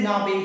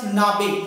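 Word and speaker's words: Knabe: For a young boy we say Nabe. Here K is silent, so you have to call it Nabe.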